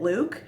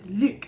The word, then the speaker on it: Luc: Oliver was like "oh is it 'Luke'?" and he's like "no, it's 'Luc,' it's Lucien."